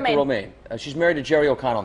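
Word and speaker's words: Romijn: Is that how you say her name? Romaine Lettuce? Romaine? Yeah, Rebecca Romaine.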